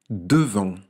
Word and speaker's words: devant: Devant. Cette fois-ci, c'est un T muet qu'il y a à la fin.